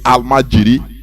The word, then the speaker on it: almajiri: They say Al-Majiri because it is the way Hausa call it, Al-Majiri.